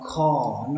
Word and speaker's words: car: Chữ cuối cùng các bạn đọc là car, nó nghe hơi giống như âm o, nó một nửa là o một nửa là a, nó nằm giữa nhau đấy các bạn.